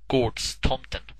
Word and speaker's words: Gårdstomten: and Odin in mind, or as we would pronounce it in Sweden, Gårdstomten, when they created the Santa Claus we know today.